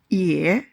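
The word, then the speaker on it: 也: ye Ye has the meaning of also or too,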